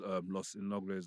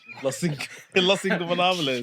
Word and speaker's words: Los Ingobernables: Lucha Bros versus Los Innobles of Japan. How do you pronounce that again? Los Ingobernables.